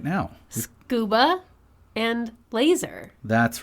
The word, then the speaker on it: laser: Scuba and laser. That's right. And I'd wager that pretty much everyone pronounces them that way.